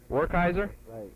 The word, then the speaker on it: Werkheiser: spelled w-e-r-k h-e-i-s-e-r w-e-r-k-h-e-i-s-e-r and how do you pronounce that or kaiser okay have you ever spoken over radio before